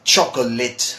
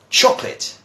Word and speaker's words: chocolate: the board I mean many people say chocolate or chocolate labs or something like that' me they just get different pronunciations and it's simpler than that is chocolate chocolate okay now some people watching